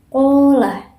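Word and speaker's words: قال: Contoh dari huruf mat yang alif yaitu contoh bacaannya qolah. Nah, pada kata ko itu kan terdapat huruf alif. Nah, sebelumnya itu berharokat fathah. Jadi dibacanya sepanjang 1 alif atau 2 harokat, yaitu qola.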